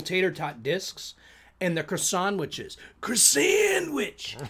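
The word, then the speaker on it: Croissan'wich: discs of the little tater tot discs and the croissantwiches. Croissantwich. It's pronounced croissantwich.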